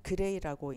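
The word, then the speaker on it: Gray: 그리고 GI라는 것은 그레이라고 읽는데 이것은 방사선의 흡수설량 그리고 1.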